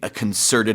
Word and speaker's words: concerted: a personal level anding concerted effort to doan really trying 네 자 그 콘서트 스펠링은 똑같지만 뒤에 e 붙고요 강세도 두 번째 음절에 들어가서 concerted 이렇게 발음을 하셔야 돼요 발음은 물론 북미권에서 안